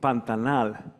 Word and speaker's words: Pantanal: in the world um this event called panta now which resembles the actual pronunciation of pantanal talks about action pantanal